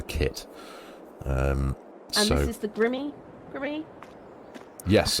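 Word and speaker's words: Grimme: And this is the Grimmy. Yes. I think that's how people pronounce it. Grim. Yeah, I think it is. It's not grime, is it? It's Grimmy. No.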